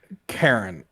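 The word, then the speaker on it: Charon: you specifically said cheron Karen like it's um okay yes Karen like the Greek pronunciation yes like the Greek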